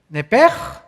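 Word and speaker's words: נפש: es la palabra hebrea nepes así como suena n e p e s h nepes la palabra la letra o las letras sh en el hebreo se pronuncian en hebreo como J Entonces se pronuncia nepe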